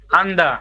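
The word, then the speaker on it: 앉다: নিউন আর জিউত আছে কোনটা উচ্চারণ হবে নিউন নিউনের উচ্চারণ হবে আন্দা প্রথমটার উচ্চারণ হবে আমাদের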